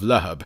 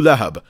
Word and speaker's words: Lahab: Also, make sure you note down the pronunciation of Lahab. It's Abu Lahab, not Abu Lahab.